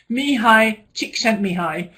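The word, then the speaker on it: Mihaly Csikszentmihalyi: Mihai Csikszentmihalyi. I have not learned how to spell that, though.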